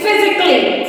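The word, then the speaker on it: physically: एल एल वाई यानी फिजिकली फिजिकली नॉट फिजिकली इसको कैली नहीं बोलते हैं इसको क्ली का को जल्दी से क्ली उसमें ए यहां पर साइलेंट करता है ऐसे ही एन यू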